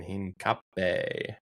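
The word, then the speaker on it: Hincapié: He's about to do Bumo, Welbeck, Celiba, and Theo to Bruno Akatik Kza in Hin Cape. Hin cape. Yeah, that's how you pronounce it.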